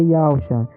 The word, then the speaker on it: Yahusha: E quando você encontra a verdadeira pronúncia do tetragrama do nome do Salvador é Yahusha.